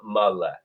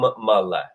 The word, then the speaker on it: male: and everybody say sum male. Remember, there's no silent E in Latin. You are going to pronounce that E. Say it again after me, everyone. Sum male.